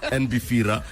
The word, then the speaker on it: NBFIRA: It's Beira or NBR. It's NB. N pronounce the N. The N is not silent. Not silent. NBR.